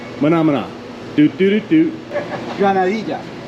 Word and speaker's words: granadilla: Granadilla. Gonorrhea. I've never heard of these. Granadilla. Gana- Granadilla. Not gonorrhea. Granadilla. Granadilla. I mispronounced that word, Italia?